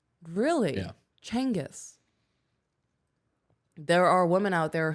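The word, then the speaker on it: Genghis: the baby I'm not genas Khan like and there are women genas Khan is that dude right he he was the Mongol yes okay his name was actually pronounced Changas really yeah Changas there are women out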